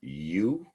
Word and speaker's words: eu: paralysis on one side eu pronounced you is normal or good you nia normal breathing